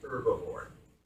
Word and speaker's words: herbivore: aboard by the way the age is not pronounced I hear people's incur before and just fix my teeth it is herbivore these are the grass-eaters